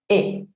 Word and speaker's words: et: Tenemos una palabra que normalmente si está sola su última letra es muda, e, yo no digo et, sino e, y se está encontrando con una palabra que empieza con vocal, el.